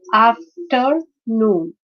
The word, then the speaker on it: afternoon: So again, this is a three-syllabic word, afternoon, or disappear, engineer, souvenir, right? So in this case, the stress is on the third syllable because after after that, when we pronounce noon, the stress is on the word on the letter N.